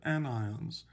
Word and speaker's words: anion: it is pronounced cation a-n-i-o-n-s it's pronounced anion so here are some